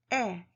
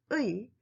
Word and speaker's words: 의: Number 3, the possessive particle 의 is pronounced as 에. In fact, it should be pronounced as the original sound 의, but 에 is also allowed as a standard pronunciation.